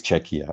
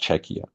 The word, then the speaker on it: Czechia: happy and positively say it's czechia it's pronounced czechia and that learning moment